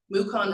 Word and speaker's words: Mukon: And so Laura Mukon, and when she arrived, I asked her to spell her name, and she said, Mukon rhymes with Yukon.